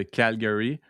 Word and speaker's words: Calgary: Mais ça dépend comme la ville de Calgary, on va prononcer semi-français semianglais. Donc la première partie du mot plus en français puis le R comme plus en anglais.